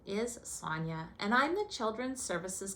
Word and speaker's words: Sonia: As I said, my name is Sonia, rhymes with lasagna.